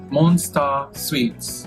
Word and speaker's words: Monsta Sweets: So, it's Monster Sweets. Mhm. So when you read it, if you're reading it in English, you see monster, but you know it's monster, but it's also phonetically it's how you would say in katakana.